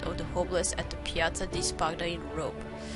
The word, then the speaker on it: Piazza di Spagna: Piazza di Spagna. That's how you pronounce it.